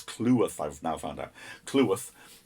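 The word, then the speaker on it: Cleworth: clearworth clue with sorry i always get his name wrong it's clue worth i've now found out kluth and he took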